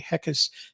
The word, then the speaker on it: Heckes: Full Brain Marketing, Heckes. Heckes is spelled Heckes. So, Yep, like heck yes without the why.